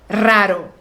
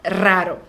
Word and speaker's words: raro: é que a pronúncia o r Inicial forte hara e depois o r fraco bro igual gostei eu encaro arara esse segundo R é assim fraquinho raro treinar e a pronúncia raro então uma comida deliciosa